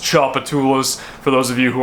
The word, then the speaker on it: Tchoupitoulas: street name that I was talking about it's pronounced Tchoupitoulas for those of you who are not from